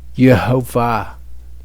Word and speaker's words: Yehovah: But regardless, the correct vowels, as far as we can determine, are Yehovah.